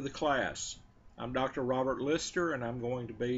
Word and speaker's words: Lyster: hello welcome to the class i'm dr robert lister and i'm going to be your professor for